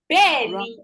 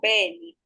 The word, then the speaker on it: bẹ́ẹ̀ni: Bẹ́ẹ̀ni is yes. You can see the correct pronunciation. So correct spelling for bẹ́ẹ̀ni.